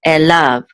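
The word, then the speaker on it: אֵלָיו: And so the accent's on the last syllable, lav, so elav.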